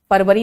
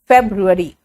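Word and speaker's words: February: मेरे साथ जनवरी फेब्रुअरी फरवरी नहीं फेब्रुअरी फ फ पानी फ बीच में से हवा निकल रहा है फ जनवरी फेब्रुअरी मार्च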